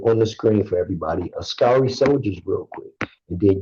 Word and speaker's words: askari: the screen for everybody ascari soldiers real quick and then you can kill ascari soldiers ashkari soldiers yeah children a-s-k-a-r-i kind of like ask ire how do you spell